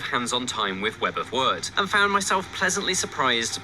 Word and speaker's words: Wyrd: It's Web of Wyrd, not Web of Weird.